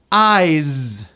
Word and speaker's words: eyes: Eyes, same thing. Spelled with an S, pronounced as a Z. Eyes.